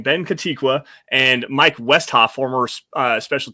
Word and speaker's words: Kotwica: hires today including uh Ben kotiqua is how you say his name Ben katiqua and Mike Westhoff former